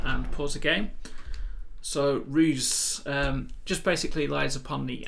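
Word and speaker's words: Roose: That's the Barovian pronunciation. Others pronounce it as Roos. Just open up the doors here, take the HUD off, go to 8 camera and pause the game. So Ruse just basically lies upon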